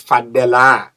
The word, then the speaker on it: Fadela: You know, Danando, the name Fadela is pronounced in Kisi as Fadela.